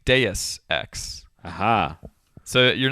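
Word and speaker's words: Deus Ex: in the machine oh uh de X right that is how most people say it supposedly it is actually Deus X aha so you're not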